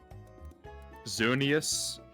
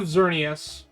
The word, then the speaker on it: Xerneas: Xerneas. Yeah, Xerneas and there's a lot of ways to say it. Yveltal? So yeah, you have Xerneas, Xerneas, however you want to say it, and then there's Yveltal, Yveltal.